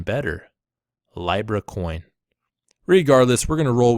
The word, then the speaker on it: Libra: yesterday's video rightfully so I was pronouncing a Libra coin as library' coin just want to let